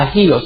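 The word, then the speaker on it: ἅγιος: Se pronuncia agios, H-A-G-I-O-S, que quiere decir distinto y trascendental.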